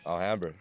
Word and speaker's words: Alhambra: So pronounce the name of the town for me because I can't do it. Alhambra.